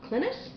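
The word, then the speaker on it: Clines: paradox bound by Peter I think it's pronounced clintus um this was recommended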